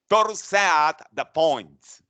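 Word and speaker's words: torsades de pointes: ventricular tachycardia called the twisting of the points which is in french pronounced thor's at the point yes so those are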